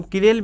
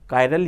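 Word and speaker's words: chiral: यौगिक का अणु कायरल होना चाहिए, जिसको हम किरेल भी बोल सकते हैं, किरेल भी बोलते हैं इसको, कायरल भी बोलते हैं। एक्चुअल में प्रॉपर इसका प्रोनाउंसिएशन कायरल ही है।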